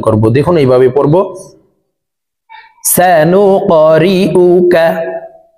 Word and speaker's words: سنقرئك: গুসাআন আহওয়া فجعله غثاء أحوى سنقرئك কফ কলকলার হরফ উপরের দিকে ধাবিত করে ধাক্কা দিয়ে উচ্চারণ করব।